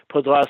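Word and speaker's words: Paudras: And um Pal Podra was Podras it's pronounced Podras was very young at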